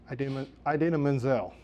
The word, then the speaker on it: Idina Menzel: Idina Menzel. I say I didn't do the John Travolta there. I actually pronounced it correctly.